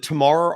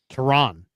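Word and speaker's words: Taran: Tell the folks about, is it Tamar Armstrong? Is that how you say his name? Teron Armstrong.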